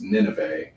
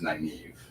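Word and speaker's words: Nynaeve: N Y N A V E, which I pronounced Nineve in my head, but the correct pronunciation is naive.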